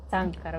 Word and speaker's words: Cankar: Claro, eso es lo que tenemos que especificar desde el primer momento, que se pronuncia como Cankar, ¿verdad? Cankar. Sí. Sí. No es Cankar, no es Cankar.